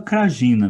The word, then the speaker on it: Krajina: E eles criaram a República Sérvia de Krajina, ou Kraína, eu não sei pronunciar. Ah, é. Pelo que eu vi das pronúncias, né, você fala Krajina mesmo, né?